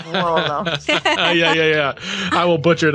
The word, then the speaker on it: Vuolo: So Volo. That's if you easy. say it properly, Vuolo, that's how the Italians would say it, but we say Volo.